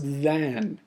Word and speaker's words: than: The other then is actually going to be pronounced than. And this has an A in it instead of an E.